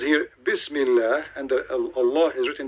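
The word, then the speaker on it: بسم الله: You see, the word in the top, it says, Bism Li Lah. Do you see it? This is the Muslim trying to teach you how to pronounce it.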